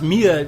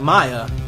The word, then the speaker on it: Mia: pronounce Mir you can you can pronounce Mia like Maya it doesn't matter it's it's a very